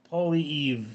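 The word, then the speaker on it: Poilievre: Pierre Polly is how it's pronounced. Polly Eve is how it's pronounced.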